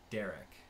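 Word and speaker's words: Derk: I was on a trip recently, and there was a guy from Belgium there named Dirk, but it was pronounced Derek.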